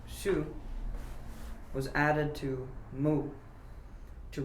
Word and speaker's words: 树: Thus, for example, an existing character which had the sound shu was added to mu to represent the meaning tree, which was pronounced shu.